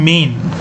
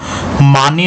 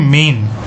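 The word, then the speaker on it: mane: যেটা আছে সেটা হচ্ছে মেইন ঠিক আছে এম এ এন ই মেইন উচ্চারণ কিন্তু মানে নয় হুম এম এ এন ই মানে নয় উচ্চারণ হবে মেইন মেইন মানে হচ্ছে কেশর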